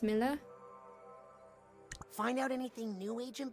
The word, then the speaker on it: Milla: Is it pronounced Mia or Mila? Well, it's short for Camila, you know? But when I first started here, Sasha mispronounced it and I thought it was so cute. I didn't have the heart to correct him, and now I kind of like it, darling. So it should be Mila?